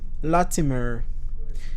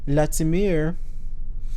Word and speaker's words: Latimer: you know and gifted i must say louis latimer excuse my pronunciation so it's spelled l-a-t-i-m-e-r and i pronounce that latimer inventor and engineer